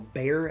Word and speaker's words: Bexar: It's been made popular by this knife, I believe, the tactile knife Ultem Bexar, or Bear as they pronounce it.